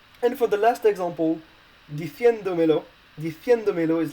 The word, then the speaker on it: diciéndomelo: So basically, you will need a written accent on the E in order to keep the stress on the same vowel than you had in